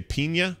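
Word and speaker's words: Peña: I don't know if you'd say Pina or Pena. Pena. Pena. That's how you pronounce it.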